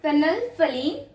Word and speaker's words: phenolphthalein: This is phenolphthalein. T and H over here is silent.